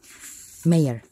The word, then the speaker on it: mayor: Mayor, not major, mayor, sorry, that's, yeah, I was now very hardly thinking how it's the right pronunciation.